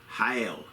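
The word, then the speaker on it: חיל: it and pronounce it let have the computer pronounce it for me hail as I said hail pronunciation is not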